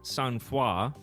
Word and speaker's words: sangfroid: All right, the word is, it looks like it says Sangfroid. Yeah, Sangfroid. It's French. It's pronounced Sangfroid.